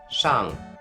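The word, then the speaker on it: 上: a stick which stands on the ground it's pronounced in Mandarin Shang Shung and in Japanese way or kami yummy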